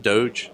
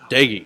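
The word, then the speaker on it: Doege: So you get a new offensive coordinator, Seth Doge. Did I say it right? Daggy. Yeah. Just right, like Thibs.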